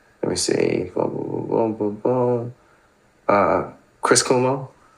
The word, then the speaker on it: Cuomo: Uh Chris Kumo. Chris Kuomo.